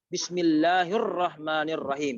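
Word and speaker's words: بسم الله الرحمن الرحيم: Pengucapan yang benar. Bismillahirrahmanirrahim.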